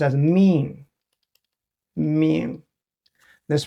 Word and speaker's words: 命: A bigger form, pronounced as wei, is area. Another one is called Mìng. There's 2 most common translation. One is life. Another is fate. Mìng.